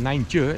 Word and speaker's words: nijntje: And nijntje is of course small. Smaller than small. Small, and it rhymes with kleintje.